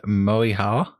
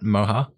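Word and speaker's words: Moehau: I'm being a coward and not pronouncing them. Sam, please. So in New Zealand, they've got the Moiha. That's not right. Moha.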